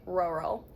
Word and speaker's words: rural: that are like tighter, whereas rural, everything's relaxed. Like, it's literally, it sounds like your mouth is just like falling, like rural.